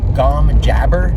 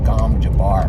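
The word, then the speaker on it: gom jabbar: willing to put in once you see the gom jabber test i think they pronounce it gom jabar but come on it's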